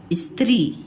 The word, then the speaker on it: स्त्री: Okay, तो देखिए, ये है स्त्री, ई स त और री, स्त्री। तो ये हो गया इस। अब ये स के उच्चारण में समय कम लग रहा है, स्त्री। त और री पूरा सुनाई दे रहा है आपको, ई भी पूरा सुनाई दे रहा है, स के उच्चारण में समय कम लग रहा है, स्त्री। ठीक है, इसलिए यहाँ पे हाफ स का यूज़ हुआ है।